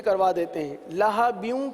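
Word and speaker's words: لَهَبٍ: لہبیوں کی ہجے سیکھیے. لام زبر لا، ہا زبر ہا، لہا. با واو دو زیر، بیوں بیوں. کیا پڑھیں گے؟ لہبیوں لہبیوں. تبت یدا ابی لہبیوں.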